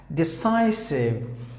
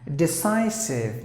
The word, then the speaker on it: decisive: Decisive. And the C is the S sound, is like I. Decisive, meaning the ability to decide about anything is called decisive.